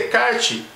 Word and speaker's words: Descartes: filósofo chamado relé de kart syndicate embora se inscreva descartes a pronúncia correta de kart e um filme que